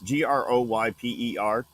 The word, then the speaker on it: Groyper: I want to call them the Groper movement. Really, it's Groyper.